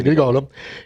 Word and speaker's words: Grigolo: Grigolo, si pronuncia Grigolo, che, tra l'altro, ha lavorato con te: tu avevi già la tua scuola, ma lui ha aperto un'accademia.